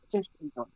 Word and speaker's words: Tischendorf: Tishonorf.